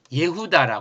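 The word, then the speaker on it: יהודה: 하고 이름을 그의 이름을 예후다 했어요 예후다 예후다이 예다가 뭐냐 예후다 유다의 원래 발음이 예후다 예다 예다인이 예다은 어떤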